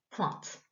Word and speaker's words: pointe: Donc là, c'est pareil, on entend p, ouin, t, pointe.